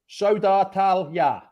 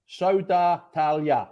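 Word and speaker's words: Södertälje: In Pidgin English, it's Phil from Sweden has said it's Sodartalja. Sodartalja. That's where he's from. Sodartalja.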